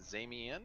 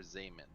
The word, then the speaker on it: Zaman: I pronouncing that right is it zamien or Zaman this is Zaman like like you're saying Jamin or yeah right right right same in okay so Zaman you see